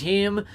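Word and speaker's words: Heim: So Jonah Him cheats his way on base. Formerly with the Yankees. And it second is round him. pick by the Yankees in That's why they pronounce it with the 2016.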